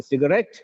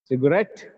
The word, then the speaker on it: cigarette: not just cigarette a cigarette cigarette the last syllable is stressed here red is tested